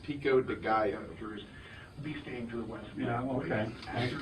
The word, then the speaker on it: pico de gallo: Also, Charlie, it's pronounced Pico de Gallo.